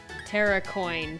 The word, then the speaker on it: Terrakion: See, when I first learned of these deer things, I pronounced all their names differently. Cobalt Lion, Terracoin, and Veriz Eon.